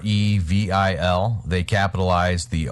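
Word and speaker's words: REvil: names actually pronounced are evil it's a ransomware evil even though evil is not spelled like what you would think but they are pretty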